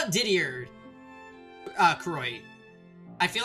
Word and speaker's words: Didier: How about Didier? Croy. I feel like I'm butchering the pronunciation of Didier.